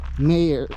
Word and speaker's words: Mayer: It's pronounced Mayer or Meyer, but it's spelled like Mayer, like Jacob, J-K-O-B, Mayer 35.